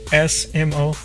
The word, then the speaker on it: sumo: But Japanese people don't say sumo; they say small, just kind of like SMO, small.